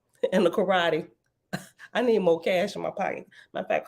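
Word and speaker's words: moqesh: trap and oh oh I pronounced it wrong both ways and is pronounced more cash m o m o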